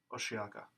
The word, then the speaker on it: Osheaga: Oh, just to interject, I found out that the pronunciation is Osheaga.